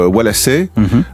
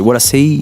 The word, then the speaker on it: Wallasey: Waves, sous le nom Walassé, qui s'écrit avec EY, qui a une astuce de prononciation qui est plutôt liée à l'accent local de Liverpool. C'est ça, ouais. C'est un mélange, c'est Walassé, comme ça, donc on sait jamais